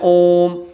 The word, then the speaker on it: ॐ: है अमरुद कहलाती है क्योंकि जब हम ॐ का उच्चारण करते हैं ओम तो इसमें क्या है टिकना समय लगता है यह संस्कृत में